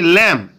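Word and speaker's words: lamb: তাহলে কী হচ্ছে, এল এ এম বি, উচ্চারণ হচ্ছে ল্যাম, ল্যাম মানে হচ্ছে ভেড়া, দিস ইজ আ ল্যাম, এটা একটা ভেড়া।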